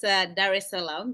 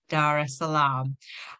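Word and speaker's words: Dar es Salaam: um a hometown of Dar Salam if I have pronounced that correctly. Yeah, it's Dar Salam, but you're pretty close. Dar Salam.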